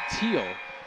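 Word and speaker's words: Teel: the field not Becky teal pronounced like the color but or the Rutgers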